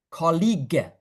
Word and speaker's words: colleague: You notice here gu when you have a u after the g, it means it's a hard g sound. Okay? When you have a g followed by e or i. So a letter g here followed by e or i, it sounds j.